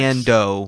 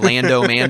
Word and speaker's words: Mando: Mando, by the way, you were saying it right. Okay. I was hearing Lando. I just want to make sure they know. Mando with the M.